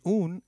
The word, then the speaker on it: un: And soy una estudiante means I am a female student. The U in un is pronounced as double O in Ubuntu and not like the U in umbrella.